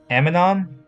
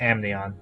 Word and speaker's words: Amnion: Okay, now next we got we got Aminon, Amnion. Amnion, Amnion. That's how you Yeah. pronounce it. Amnion.